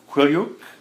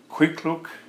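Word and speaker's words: Kwethluk: up the Kuskokwim, and it's Quilyuk? Quikluk. And if you don't know how to pronounce Quikluk, all you got to say is Quikluk. Quikluk. Yeah. All you got to do is look quick and call it Quikluk.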